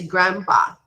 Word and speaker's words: grandpa: okay grandpa or grandma we do not pronounce the d so we say grandpa grandpa or grandma grandma okay